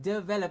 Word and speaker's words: develop: dwell excellently got it we got the correct pronunciation from Jalandhar if you could say it once more please develop excellent very good develop I think this is a word we've done